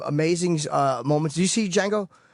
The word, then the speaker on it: Django: Did you see Django? Not yet. There was. I like to call it the Django. Django. I like pronouncing the D.